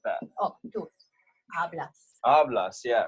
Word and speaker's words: hablas: Because this word ends with an S, right? So the stress naturally falls on the second to last syllable, which in two-syllable words is the first syllable.